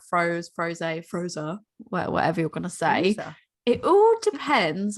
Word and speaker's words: Froze: with is and this one i know is pronounced froze it's miracules every day is mangonificent and it